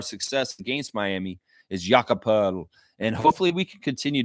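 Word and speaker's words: Pöltl: Well, you don't know how to pronounce Austrian names. That's your fault, bro. It's Jakob Poeltl, and it's like a O with a little dot thing on there with the E.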